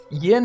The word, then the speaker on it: Yin: think is probably actually, in Chinese pronounced the same as it is in Japanese, even though it's spelled Y-I-N, or at least in Mandarin. I think it's Yin. Yeah. It gets transliterated as Yin, but it's Yin.